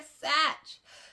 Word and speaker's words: Satch: I said Sarah Sack. I'm so sorry, Sarah. It is Sarah Satch.